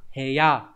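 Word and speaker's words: 部屋: Ốc cự hoặc là ya, nhưng ghép với nhau đọc là hề ya, cũng không theo quy tắc bởi vì chữ bộ nó xuất hiện cái âm mới là hề này.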